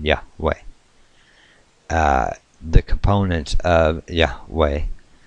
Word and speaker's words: Yahweh: at the Hebrew anyway the original personation pronunciation was lost many centuries ago but the available evidence indicates that it was on all likelihood yah way uh the components of